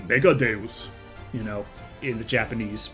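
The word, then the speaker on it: Megadeus: Um, for some reason they insist on pronouncing it Megadus on the English dub and that just bothers me. I don't cuz it sounds really stupid. First of all, it it is very obviously supposed to be Latin so it's deus.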